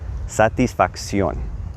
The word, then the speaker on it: satisfacción: If you'll notice, I'm sounding out everything in that word. Satisfacción. There's two C's, but they both have a distinct sound, right?